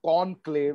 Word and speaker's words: Conqlave: So we pronounced this as conclave and we spelled it as CONQLAVE.